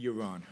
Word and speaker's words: Yaron: Is it Yaron or Yaron? Yaron. Okay, my apologies. That's fine. I can't hear it anymore. Everybody mispronounces it.